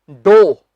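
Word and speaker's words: dough: हम बोलते हैं डियो व्यूज बीच इसका सही उच्चारण है दो बहुत से लोगों से बोल देते हैं डिफिसिट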